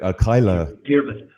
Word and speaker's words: Cadhla: Councillor, I'm going to get Cadhla. Cadhla, yeah. Yeah, Cadhla. But it's spelled OCDHLA.